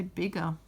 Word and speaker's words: bigger: to say bigger and it would also muck around with our our g sound it would turn it into what we call soft g it would say a j sound and there's no such word as budger so we're going to make bigger so watching me plays